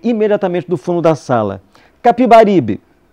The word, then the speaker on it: Capibaribe: Capibaribe, com A, como sempre tinha ouvido dizer no Recife. Fiquei perplexo quando Veríssimo comentou, para grande divertimento da turma: bem se vê que o senhor é um pernambucano. Pronunciou pernambucano, abrindo bem o E. E corrigiu: Capiberibe.